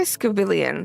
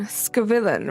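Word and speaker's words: Scovillain: So yeah, I always say Scavillion. Scavillan, right? That's how you say it.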